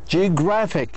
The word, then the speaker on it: geographic: Geographic. Geographic كم مقطع 3 syllables 1 2 3 هذا بنسميه penultimate.